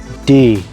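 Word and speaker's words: du: let's start with black d or as i prefer to say the the u in that is a bit sticky just d u but the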